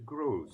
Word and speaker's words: Grosz: It is Gross. It's the same Grosz. as the Gross Grosz. pronunciation, but the Z on the end is the Hungarian spelling instead of the other.